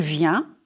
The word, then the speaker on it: vient: Il vient. Singulier. It's nasal.